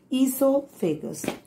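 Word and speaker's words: oesophagus: food pipe children esophagus o is silent okay it is pronounced as esophagus now when we chew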